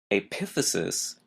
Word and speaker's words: epiphysis: y s i s again notice the stress is in an odd place the second syllable aphesis epiphysis refers to the ends